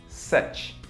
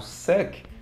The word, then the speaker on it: such: Se você respondeu such, beleza, you got it. This is the right pronunciation. Essa é a pronúncia certa, such. Se você, por acaso, meu amigo falou por acaso suck, tá errado, ok? Não é essa a pronúncia.